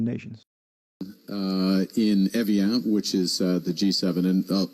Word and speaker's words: Evian: In Evian, which is the G7, and maybe... Okay, I pronounced it right, Evian.